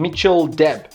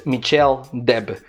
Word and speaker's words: Michel Deb: got front 243 from mitchell deb well it's michelle deb that's the right way to pronounce it but i call him